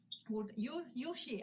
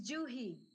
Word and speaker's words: Juhi: Yuhi, I was pronouncing and practicing how to pronounce the name. It's Juhi. Juhi.